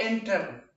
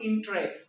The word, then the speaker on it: entrepreneur: नो, इट इज नॉट एंटर, नो, एंटरप्रेन्योर। ये इसका pronunciation मैंने लिखा हुआ है एंटरप्रेन्योर, एंट्रे नॉट इंट्रे, एंट्रे।